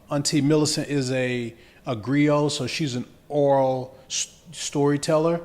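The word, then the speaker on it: griot: information man can you say that word again Grio Grio g r i o t I think is how it's spelled yeah so just having access to to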